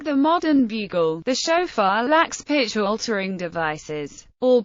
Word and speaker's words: shofar: a chauffeur pronounced OA is a musical instrument of ancient origin made of a horn traditionally that of a ram used for Jewish religious purposes like the modern bugle the chaffeur lacks pitch altering devices all pitch control is